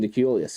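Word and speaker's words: Deculus: that name is yeah he's pronouncing it austin declass okay there you go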